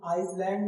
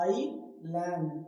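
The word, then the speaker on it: island: लिखा हुआ है जैसे इसे आइसलैंड नहीं बोलना है क्या बोलना है आई लैंड आई लैंड एस को नहीं बोलना बोलना है।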